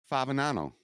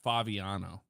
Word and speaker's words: Favignano: way what my life you always pronounce it incorrectly yes fabinano it's faviano I told you that Jeffrey